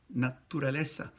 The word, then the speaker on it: naturaleza: So tu, it's not, there's no chu in natural in Spanish. Naturaleza. Naturaleza. The other syllable there that is problematic at times is the R-A. Ra. So ra is not raw. Naturaleza. There's nothing raw in nature in Spanish.